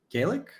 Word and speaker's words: Gallik: I have a new friend of mine Ryan Gaelic is that gal okay right Gaelic okay um it's like I said new friend